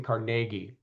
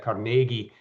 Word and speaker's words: Carnegie: And I'm going to give you props for correctly pronouncing CargI. Uh just FYI, my my Scottish grandmother would be very very pleased to be to hear that I was in a conversation with somebody who actually said Carnegi.